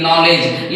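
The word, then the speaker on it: knowledge: इ डी जी ई नॉलेज यानी जी से पहले डी साइलेंट एन से पहले के साइलेंट के एन ओ टी नोट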